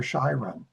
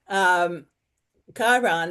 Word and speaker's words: Chiron: It wounded Chiron, or you say Chiron? Yeah, Chiron, that's how I pronounce right.